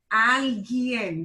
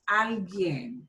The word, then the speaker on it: alguien: Alguien. That U is not pronounced. Alguien.